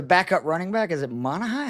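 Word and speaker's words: Monangai: And we saw last week, I'm not going to butcher his name because I can't pronounce names, but the backup running back, is it Monahai? How do you say that? Manungai.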